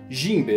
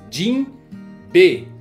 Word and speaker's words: Jinbe: Se você pegar a pronúncia aqui no português, vai ficar Jimbe, né? Jimbe. É tipo João, entendeu? É Jimbe. Agora se você vai no Japão, a pronúncia é um tanto quanto diferente porque eles parecem que separam as palavras Jin B.